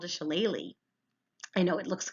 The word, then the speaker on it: shillelagh: It's called a shillelagh. I know it looks like a weird word up there, but if you look in the parentheses, you'll see how you pronounce it, a shillelagh, and it's a walking stick.